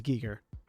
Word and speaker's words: Giger: And yeah, it is Giger. It's Giger. It's not Yeah. Geiger. I've only ever heard it as Geiger. You heard it from people who have mispronounced it. That's because Fair. it's a German, It looks like Geiger.